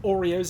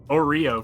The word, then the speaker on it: Oreo: a rubber band powered Oreo Cannon essentially and the fact that he just pronounces it Oro for the entire video seemingly intentional with no idea what he's doing it's really good it